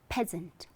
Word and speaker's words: peasant: Correct pronunciation is peasant, peasant, right?